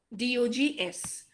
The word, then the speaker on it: dogs: example cat cats dog d o g s but do we pronounce it how do we pronounce it with an s or with a z with a z dogs okay so here